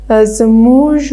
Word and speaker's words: زموږ: چې موږ خو دا زموږ وایو او ښوونکي څنګه زموږ وایي. خیر، په ځینو سیمو یا ولایتونو کې دغه توری ژ تلفظیږي، ژ ته ورته تلفظیږي او په ځینو کې هم ګ.